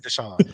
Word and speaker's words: Desa: deson oh my God but I get everything but Desa that'd be the wild like it spelled Desa it's spelled clear as day they call me everything